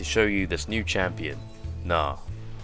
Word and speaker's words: Gnar: you this new champion nah or I think it's not anyway with the silent G anyway the store is